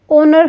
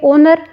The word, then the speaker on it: honour: अब हम इसको प्रोनाउंस करें तो अगर आप लिखोगे एच से लिखोगे इसको, ठीक है, लेकिन प्रोनाउंस करेंगे तो इसको ओनर हम बोलेंगे, ओनर।